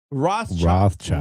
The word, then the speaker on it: Rothschild: Rothschild.